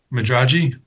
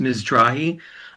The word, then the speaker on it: Mizrahi: Yes, we have a Madraji. I suppose I had the name correct. Hi, thank you. Yeah, it's pronounced Mizrahi. I'm Mizrahi.